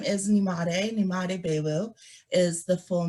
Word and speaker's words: Nyemade: As she mentioned, my name is Nyemade Boiwu is the full name. When you first see it, it looks a little intimidating, but it's just three syllables, Nyemade.